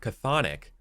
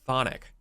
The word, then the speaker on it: chthonic: The British pronounce the word chthonic, while Americans pronounce it thonic.